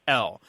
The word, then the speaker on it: coyotl: And it's Coyotl. And it is more or less two syllables. The L, I believe, is very liquid, so it's coyote, something like that.